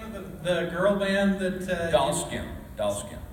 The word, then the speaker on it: Dollskin: Dollskin. Say that. Spell that. Okay, so D-O-L-L. Doll, and then skin, S-K-I-N, Dollskin, yeah.